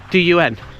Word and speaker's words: dun: The reason they call it the downs is the Celtic word for hill is down. Du n or dun. Yeah, down. Dun dun dun don.